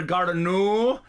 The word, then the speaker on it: Gardner: I was calling her Gardner, but her name is actually pronounced Gardner.